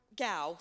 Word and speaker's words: Gow: Am I pronouncing your last name right? Gow, thank you.